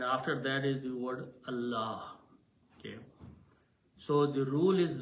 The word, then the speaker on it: Allah: in this case both then the word of Allah should be pronounced with a big full mouth Allah like that. If these two letter if these two harakas are before the word Allah then don't pronounce Allah or Allah full mouth Allah but if the third one is there z then it should be very smooth Allah which is under thereism